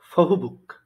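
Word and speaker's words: 보호복: এখানে প্রথম শব্দটা যদি দেখি যে ফহুবুক, এটার প্রথমে যে বিয়ফ এর উচ্চারণ হচ্ছে বাংলা ফ এর মতো। আর এর পরে যেটা হয়েছে, প্রথম অক্ষরের পরে বসছে যেটা, ওটা হচ্ছে বাংলা বয়ের মতো। সো ফো হো বুক, ফো হো বুক, ফোহবুক। এরপর হচ্ছে খাবাং।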